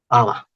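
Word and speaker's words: haba: Ya se vuelve muda la H. Aba, pero con H todavía. Es una H muda, ¿no? ¿Para qué pones una H muda? ¿Qué sentido tiene la H muda si no se pronuncia?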